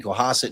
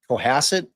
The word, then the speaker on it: Cohasset: Well, if it's a like ass Cohasset, which one is it, y'all? It's up. It says co has like asset like cohasset. Okay. Coasset. You guys agree? Cohassid. Everyone wrote like a similar thing with has Okay.